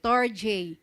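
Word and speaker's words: storge: storj love familial affection Okay pronounce as basahin niyo nga po St storj Ayan ang ang uri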